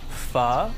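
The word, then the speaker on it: phở: Oh my god, I love pho. It's pronounced pho, and yeah, it's delicious.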